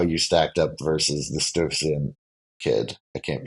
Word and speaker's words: Stuyvesant: know like how you stacked up versus the Stuyvesant kid. I can't pronounce that school's name. Yes, definitely. Yeah. Sty, right? Isn't it Sty something? Yeah, Stuyvesant.